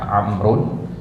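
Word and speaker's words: عمرو: kaidah alam Istilahnya ya nama-nama orang yang dia ditambahkan huruf tapi tidak dibaca Ini salah satunya ya amrun ini ditambahkan huruf wau ya padahal wauya enggak dibaca gitu baik ya jadi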